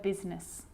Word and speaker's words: business: or rhyme good news the i is not usually silent it's usually pronounced except in the word business okay k now i